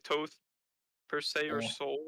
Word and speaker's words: Thoth: How do you think it's Toth instead of Thoth? I believe the way Egyptians just pronounce things, and it's also historically correct. I believe it's Toth.